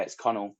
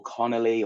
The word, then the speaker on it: Conal: No, a lot of people get it wrong, but yeah, it's Conal. So Conal, yeah, yeah. It's spelt how it sounds, I think. Conal. yeah, a lot of people get it wrong. Call me Conal or Connolly or something like that. It's Conal.